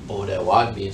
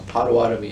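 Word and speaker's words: Bodéwadmi: So bodewadmi. So Potawatomi is a mispronunciation of bodewadmi.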